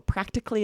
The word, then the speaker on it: practically: These you're going to hear almost always as 3 syllables. So practically is the first one.